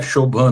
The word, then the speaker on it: Shobhan: Shobhan, instrui a gente aí, o seu nome se pronuncia certo mesmo, Shobhan? É Shobhan mesmo, Shobhan. Porque em português não tem essa som B-H-A junto, não? É Bha, que é uma som bem indiano, só existe na idioma de Ásia.